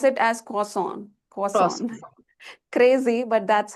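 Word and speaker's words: croissant: So in place of R we have W sound here and T sound also is not produced. So we we pronounce it as quason.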